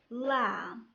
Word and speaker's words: lamb: بمعنى ملي كتجي B at the end of the word في نهاية الكلمة بالحق قبل منها كاين letter M, B is silent. An example: bomb, climb, thumb, lamb.